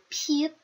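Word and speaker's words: 피읖: này là phờ, nhưng thực sự thì nó không phải là phờ, mà các bạn hãy chú ý là chúng ta sẽ dùng môi để phát âm ra âm này.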